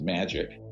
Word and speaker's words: MAJIC: the majority intelligence committee majic is pronounced magic ironically uh or not